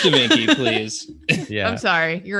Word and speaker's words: Da Vinci: It's Da Vinci, please. Yeah. I'm sorry. You're right. I mispronounced.